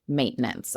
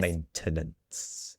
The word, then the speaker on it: maintenance: The pronunciation in the UK, in British English, we do pronounce the T. So it's maintenance. Routine. Oh, very nice. Maintenance.